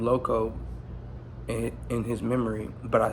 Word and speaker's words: Eloseeoh: His name was Louis Loco, and when he passed, I used his name Loco in his memory, but I spell it different. So LOCO. I spell it ELOSEEOH, but it's LOCO, like LOCO.